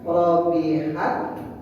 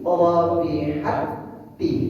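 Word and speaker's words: ربحت: Nah, cara bacono dimasukan ta ke dalam huruf ta k bacanya bukan robihat bukan tapi robihatti dimasuk ta yang mandi ke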